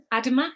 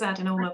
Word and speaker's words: adenoma: And then going back to the pituitary Adama, is that how you say it? Adama? Yeah, I think it was adenoma, but I didn't see it. Adenoma.